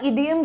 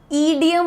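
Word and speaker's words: idiom: पहला इडियम जो आने वाला, अच्छा एक चीज, ईडियम ना बोलिएगा, इडियम होता है, द प्रोनाउंसिएशन इज छोटी ई, जैसे इडली बोलते हो, ईडली तो नहीं बोलते, राइट, इडली, वैसे ही इडियम, इडियम आपको बोलना है, ठीक है।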